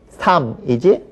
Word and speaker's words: 삶: 살다의 명사형은 삼이지 살.